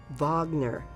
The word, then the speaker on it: Wagner: And remember when he turned up the music and asked if she liked Wagner? Well, as you probably realize, it's pronounced Wagner.